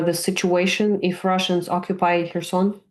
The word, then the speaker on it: Kherson: Kherson? Kherson.